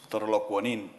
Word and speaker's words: Torolokwanin: The correct pronunciation is Torolokwanin.